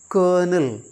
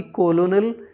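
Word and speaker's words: colonel: ओ एन ई एल इसमें my dear learners are नहीं है लेकिन फिर भी हम इसको क्या पढ़ते हैं कर्नल कर्नल ना कि कोलोनल या कुछ और कर्नल एकय हाई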